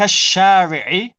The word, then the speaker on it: الشارع: البيت الكبير الذي في ذلك Remember the sheen. The sheen is a sun letter, so you don't pronounce the lam. Oh yes. ذلك شريعي في ذلك الشارع.